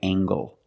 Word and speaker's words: angle: this is a right angle use the nasal plus the hard angle this is a right